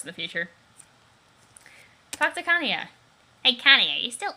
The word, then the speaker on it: Kanaya: Do you really have to insist on pronouncing them the way Hussey wanted them to? I was saying Kanaya before I read the way he did it, so I'm sticking with Kanaya.